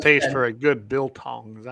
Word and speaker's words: biltong: for a good biltong. Is that how you pronounce that, biltong?